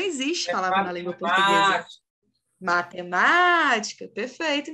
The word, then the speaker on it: matemática: palavra na língua portuguesa matemática perfeito Nicolas é proparoxítona gente não é a última não é a penúltima é a anti penúltima sílaba é proparoxítona E aí a gente